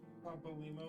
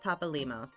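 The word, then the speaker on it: Papalymo: His name is pronounced Papa Limo. So, like, you break it into two words. You got Papa and Limo.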